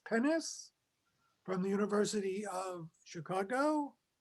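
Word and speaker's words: Pines: translation is someone whose name is spelled p-i-n-e-s pennis from the university of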